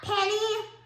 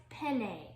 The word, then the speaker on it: penne: don't think no no like the pasta penny only penne oh yeah oh okay yeah it's pronounced penne at least i think anyways um we might